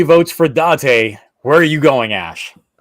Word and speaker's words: Date: You're both saying it wrong. No end. How do you go Date and then Dante? It's Date. Date, right? Or yes, Date. Shit. Oh my god. Date. There we go. My there god. We go. Date. There's no N.